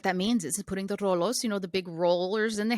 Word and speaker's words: Rolo: in it, I was particularly struck by the Rolos scene. Is that how you say it, Rolos?